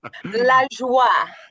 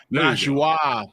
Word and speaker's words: La Joie: It's the la. Think French. Yeah, well, that's the thing. I'm thinking Spanish, and I know I'm going to say it wrong. So, La joie. La joie.